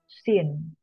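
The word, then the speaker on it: σύν: Nah, sinoptik itu sendiri berasal dari bahasa Yunani yaitu sin, atau tulisannya itu sun, bacanya sin, bersama, dan opsis atau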